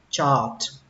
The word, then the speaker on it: chart: Biểu đồ theo dõi thì các bạn đọc là chart. Âm A nó kéo dài ra một chút tại vì ở đây nó có âm R các bạn, nên nó kéo dài ra một chút, đọc là chart. Chart. Chart. Âm chờ mạnh, âm chờ bắn hơi và kết thúc bằng âm T.